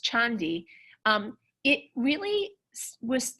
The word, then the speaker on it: Candi: the name Candi right in Javanese is pronounced chandi um it really was